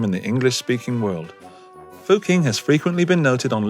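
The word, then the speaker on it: Fucking: the pub called Dick Max in Vienna either fuk King is an Austrian Village in the northwest of Austria and is spelled f u c k i n g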